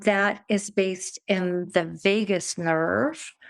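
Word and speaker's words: vagus: is based in the Vegas nerve I always want to say Vegas baby like Las Vegas but it's not spelled the same way but it's easy to remember that way that we have a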